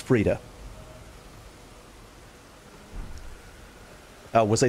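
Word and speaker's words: Friede: I'm listening to the dialogue. Frieda. Okay, hang on. I don't know if you guys can hear that. Can you hear my audio? That's the correct pronunciation. Anyone that pronounces it differently is wrong. Hang on a second. Frieda. That's it. That's what he's saying. He's saying Frieda.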